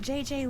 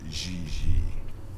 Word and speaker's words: Gigi: En français, you pronounce G like J and J like G. She may very well be JJ in America, but in France, she is Gigi.